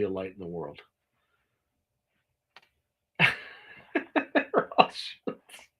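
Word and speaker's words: Rothschild: Roth shields. Thank you for pronouncing Roth Roth Shields correctly. Hardly anybody does.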